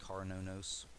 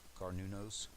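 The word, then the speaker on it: Cernunnos: uh it's spelled c-e-r-n-u-n-n-o-s but it's actually uh pronounced carnonos carnunos uh this would be equivalent to the devil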